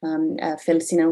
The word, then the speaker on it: Felsina: as fel cinna today felsina was the latin pronunciation for feldsner this original etruscan name for